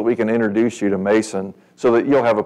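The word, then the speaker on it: Mnason: long standing with whom we were to Lodge Mason and it's pronounced like the end's not there Mason is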